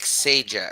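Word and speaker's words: Sejdić: It's like Sajak. It's like Pat Sajak.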